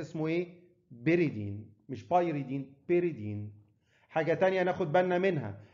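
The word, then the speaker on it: pyridine: اللي فيه نيتروجين اسمه بيريدين والواي هنا سايلنت، ما اسموش بايريدين اسمه بيريدين. يبقى الثانيه اسمها بايرول، خماسي اسمه بايرول فيه نيتروجين، السداسي اسمه ايه؟ بيريدين، مش بايريدين، بيريدين.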